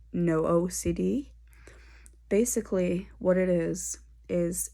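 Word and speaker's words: NOCD: very beneficial to me is an app called no ocd basically what it is is it's spelt n-o-c-d um and it's a community um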